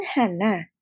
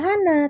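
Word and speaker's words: 한: aturannya ya robun Jadi untuk angka 1 itu kan Hana tapi enggak dibaca Hana tetapi dibacanya menjadi Han angka du itu kan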